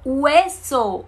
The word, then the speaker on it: hueso: H, H, não tem sonido. Ahora, hoy, hueso, hueso, es con H, hueso significa oso, chocolate.